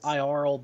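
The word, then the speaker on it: Iaral: His name is Iarl Beckon. So it's spelled I-A-R-A-L.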